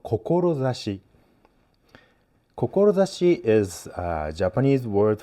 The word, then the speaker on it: 志: So, this is the character of kokorozashi. You know, or sometimes pronounced shi as well.